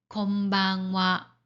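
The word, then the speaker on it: こんばんは: 자, 그리고 한 가지 더 인사말로 쓸 때도 하를 하로 발음하지 않고 와로 발음합니다. 예를 들어서 낮에 하는 인사, 건니치와, 그리고 저녁에 하는 인사, 건방와, 이런 경우도 와라고 발음합니다.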